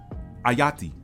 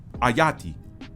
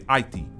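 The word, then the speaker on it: Ayiti: The original name of this nation was Ayati. Ayati. Or some take that second syllable, some take that second vowel sound out, and some say Aiti. But that is a very different sound and a very different vibration than one that closely resembles the god of the underworld.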